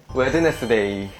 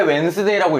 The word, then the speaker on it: Wednesday: 웨드네스데이. 맞아. 왜 웬스데이라고 읽는지 진짜 도통 모르겠어.